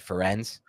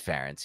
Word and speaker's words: Ferentz: Hey, I don't pronounce that right. Ferenz? Ferentz. Oh, it is Ferentz.